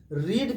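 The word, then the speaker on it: read: देना इसका second form रीड का सेकंड फॉर्म होता है रेड लेकिन स्पेलिंग वही रहता है सुनना जो लेटर है व वही रहेगा वड वही रहेंगे लेकिन प्रोनंसिएशन अलग होता है जैसे क्या है न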